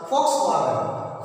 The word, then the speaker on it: Volkswagen: Actually, it is pronounced as Volkswagen.